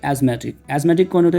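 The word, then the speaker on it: asthmatic: यहाँ पे TH silent होता है, तो उसको पढ़ा जाता है एज़मा, और आप हो गए एज़मेटिक।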